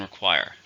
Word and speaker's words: require: you need the verb how many syllables are in require to stress in a second require require all students